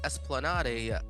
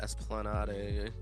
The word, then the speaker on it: Esplanade: from Canal Street to Esplanade Avenue or sorry esplanad not Esplanade adding adding syllables where they don't belong oh that's sick